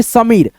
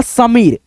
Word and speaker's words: समीर: या समीर सामीर या समीर तो दोस्तों यहां पे होगा समीर क्योंकि दोस्तों समीर नाम होता है किसी लड़का का नाम है लेकिन समीर गलत उच्चारण है तो यहां से आपका